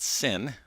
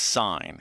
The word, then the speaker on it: sine: N and it's not sin I know it's spelled the same way it's not like you know you're going to church and you're committing the sin never be committed to